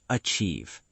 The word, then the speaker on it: achieve: The word achieve. Let's say it together. Achieve. The stress is on the second part. Achieve. Achieve, not achieve. The stress is on chieve.